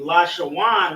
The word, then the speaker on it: Lashawan: Where in Lashawan right here, we have a connector on the La, connector on the Sha, and then a connector on the Wa and Na, making it Wan.